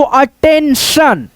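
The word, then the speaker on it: attention: English के कोई भी अक्षर में शब्द में दोस्तों टी आई ओ एन आ जाए तो हम लोग क्या पढ़ेंगे? सन जैसे यहां पे देखो A double T ई एन टी आई ओ एन आ गया तो अटेंशन अटेंशन हो गया।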